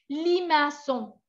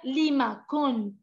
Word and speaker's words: limaçon: Un limaçon. Limaçon. Sinon, je vais dire limacon. Si no hay cédille y hay una C, se pronuncia K.